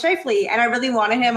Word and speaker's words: Scheifele: I was like, how do you pronounce that? Scheifele? And then I was like, oh, it's Scheifele.